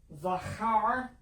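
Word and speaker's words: זָכַר: zaman which means time zachar the ch in hebrew is pronounced like a ha sound so which it means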